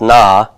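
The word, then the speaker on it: נא: a little particle that's going to be pronounced na and what this is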